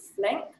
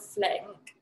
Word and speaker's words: Flink: So it's kind of handy as well how it kind of rhymes with drink.